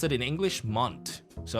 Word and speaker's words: Mont: the white mountain yes but in French Mt the t is omitted so so Mon and then Blanc BL a n c